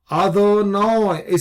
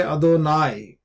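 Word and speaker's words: אֲדֹנָי: Adonoi. So here the Tiberians would pronounce it as adonoi. Adonoi. Uh second we say adonai just as the modern adoni.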